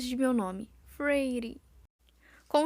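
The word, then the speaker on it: Feyre: Elaine pronunciou as 2 sílabas de meu nome. Frady.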